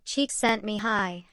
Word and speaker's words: Csikszentmihalyi: Mihai Csikszentmihalyi, whose name is pronounced roughly Csikszentmihalyi, a fact he acknowledged with characteristic good humor,